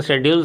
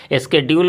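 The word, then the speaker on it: schedule: American English में pronunciation शेड्यूल सही है, बट हम तो ब्रिटिश को फॉलो करते हैं ना, इसलिए हम लोगों को ये स्केड्यूल बोलना पड़ेगा। ठीक है, इसका मीनिंग तो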